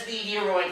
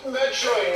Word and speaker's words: Metroid: He still pronounced it as Meteoroid Prime. Like, bruh! It's Metroid, not whatever it is.